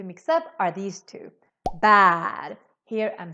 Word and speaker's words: bär: So if you forget the two dots, or if you pronounce this as an A, then you're saying bar. In Swedish, we say bar.